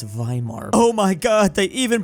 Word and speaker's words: Weimar: just some stupid memes they love hitting that v in Weimar oh that's right it's viar oh my God they